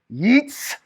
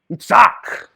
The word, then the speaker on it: Yitzhak: Some people pronounce this as a K. I like to think of it more of a K as a K sound. So you say his name, Yitzhak.